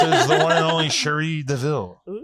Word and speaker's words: Cherie Deville: But this is the one and only Sheree Deville. Oo, hello. Did I pronounce it correctly?